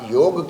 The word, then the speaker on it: योग: बोलो आप लोग जरा बताओ, क्या हम लोग योगा कहते हैं ना? Right, not योगा। दिस योग इज a Sanskrit word and it must be pronounced as योग.